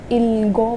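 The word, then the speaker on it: 읽고: ये कियक ऊपर चला जाएगा बोलते वक्त, हम इसको इलगो पढ़ेंगे।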